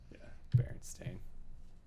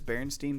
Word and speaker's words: Berenstain: the Berenstein bears but Berenstain but isn't that weird like couldn't you swear that it's Berenstein bears yeah it's like everyone